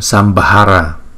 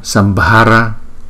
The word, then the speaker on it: Sambhara: B đứng một mình thì chúng ta đọc là B. Chữ B và chữ H ghép lại chúng ta đọc là B, B, B. Đưa cái hơi nhiều từ trong miệng chúng ta đưa ra.